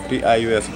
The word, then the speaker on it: Pius: How do you spell that? P-I-U-S, Pius.